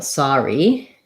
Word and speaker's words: sorry: And then your other word, sorry, that OR doesn't say the OR sound. So if we're looking at sorry, we have that letter O. The R goes on the second syllable. So there we have this kind of deal, sorry, first syllable stress, and so it sounds like saw rather than so or sore.